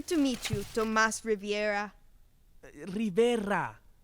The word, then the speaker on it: Rivera: Rivera. Riviera. Rivera. I'll have to practice that new word.